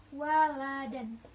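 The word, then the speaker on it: وَلَدًا: Nah, waladan apabila ada di tengah kalimat, maka bacanya waladan, tidak dipanjangkan. Namun, karena kita mengambil di Al-Kahfi, maka di sini di akhir kalimat atau diwakafkan, sehingga bacanya menjadi walada, dipanjangkan seperti itu.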